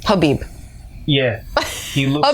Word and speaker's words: Khabib: one I want to call him khib khabib but I've been calling him kabib it's khabib khabib if I'm pronouncing your